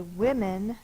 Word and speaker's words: women: this o says uh when we say women this o says I the short I sound from what I looked up it's because of the Old English origin it changes that vowel sound so it's women sounded